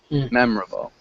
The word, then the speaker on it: memorable: when we say memorable we don't really pronounce that o sounds like mem memorable can you repeat memorable